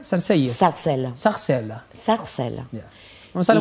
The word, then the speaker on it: Sarcelles: ¿Cómo se pronuncia? Sarcelles.